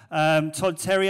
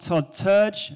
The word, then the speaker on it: Todd Terje: written by terry olson todd terry oh not todd church that's how it's pronounced in norwegian he's from norway it